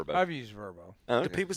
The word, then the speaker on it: Vrbo: It is. It's Verbbo. Yeah, it's it's a travel app. Airbnb. Yeah. Yeah. But I thought you pronounced it just VBO. Just call it Verbbo. I've never heard anybody say Verbbo. That's what they say it on the commercial.